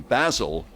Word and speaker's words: Basel: actually happy night was in Basel in Switzerland or ball as they call it spelled basil but it's pronounced ball and I loved